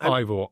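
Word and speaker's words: Eivør: H actually pronounced Ivore.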